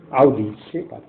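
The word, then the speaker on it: aude sapere: আসল উচ্চারণ আউডি সেপার।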